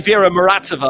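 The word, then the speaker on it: Vera Muratova: vera ready to go it's actually vera moratova i remember askia before it is the flat russian pronunciation it's another european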